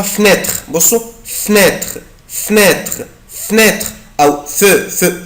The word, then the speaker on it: fenêtre: une fenêtre une fenêtre كلمة يا حبايبي fenêtre شباك أقدر أنطقها fenêtre بصوا fenêtre fenêtre fenêtre أو fenêtre une fenêtre une fenêtre une fenêtre une fenêtre أو une fenêtre يعني شباك.